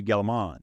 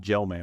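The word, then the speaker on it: Gell-Mann: called the Gelman right it's because it's Murray galliman and that's how it's pronounced I said Gelman which is terrible no I I think I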